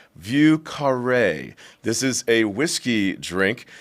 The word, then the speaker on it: Vieux Carré: Vail, taking in a show and a little Vieux Carré. I'll get a little cheers because I pronounced the name right.